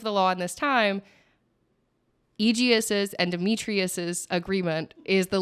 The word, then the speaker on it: Egeus: Um in comes, is it Egeus? Is that how we say his name? Egeus. Egeus comes in.